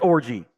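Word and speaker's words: Orji: version of of orgy no way his last name's really pronounced it is pronounced orgy he got made fun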